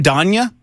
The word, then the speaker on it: Donya: Is your name Donya? Yes, it's Donya. Donya. It's like Ti- It's like Tanya with a D.